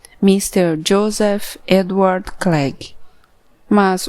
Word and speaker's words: Joseph: José, como o Banjocô, que os ingleses pronunciam de uma maneira diferente, colocando um F no final, do mesmo jeito que era pronunciado o PH no fim do primeiro nome do meu novo dono, Mr.